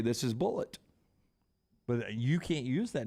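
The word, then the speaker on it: Bulleit: gets the dog I can say this is bullet but you can't use that name now the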